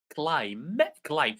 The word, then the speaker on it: climb: So ni, the K is silent. Ni, our, island, climb.